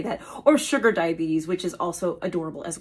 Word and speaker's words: diabetes: it and this is the word is diabetes but what do I often hear well I often hear diabetes as as though there's a t at the end and it's not it's a tees diabetes not diabetes now I also have